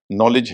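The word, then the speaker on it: knowledge: problem होती है कि कई शब्द ऐसे हैं जहां के जो है एन के पहले आ रहा है और उसका उच्चारण नहीं हो रहा है कॉमन शब्द है आपके नो है नॉलेज है उसी से बना हुआ है नी है नाइफ है के एन आई एफ सब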